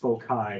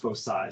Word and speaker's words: foci: It's not pronounced foci, it's pronounced foci. So I know it kind of takes time to get used to pronouncing it that way, but it's pronounced foci. The C is pronounced with an S.